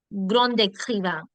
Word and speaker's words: grand écrivain: Okay, when words are ending with D and they're followed by a vowel, they actually become to in the sound of liaison, such as grandon, grand écrivain, grand avantage.